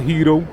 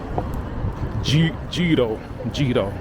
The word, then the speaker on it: gyro: I mean, the G isn't silent. I'm talking to you Spanish speaking folks out there. It's not hito. It's Gito.